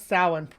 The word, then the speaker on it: Samhain: Yeah, he does pronounce Samhain correctly.